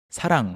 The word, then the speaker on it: 사랑: It sounds similar to the word 사랑, right? Oh, yeah, right. 사랑. Yeah, if you say 사랑 with the 응 sound at the end, it is love.